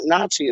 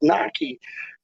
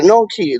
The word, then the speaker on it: gnocchi: I'm like, "No, it's not nachi. It's naki or noki. Like however you say it.